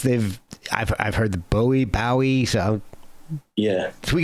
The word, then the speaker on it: Bowie: bowie and so yeah always always it's always bowie and that's what he called himself okay and